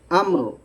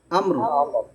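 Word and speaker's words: أمر: গুন্না হবে কুললি আমর থেমে গেলে সাকিন হবে আম আমার আমার হবে না আমরার বললে মিমও জবর হয়ে যাবে মিম তো জবর নাই এটা হবে দেখেন আমর আমর আম বলি না আম বলে পরে রটা ধরবেন রাইট ইয়েস সুন্দর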